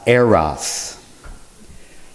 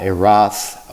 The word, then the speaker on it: Eros: peace may these things be so it's actually pronounced eros not a roth or eros or eros that is air roths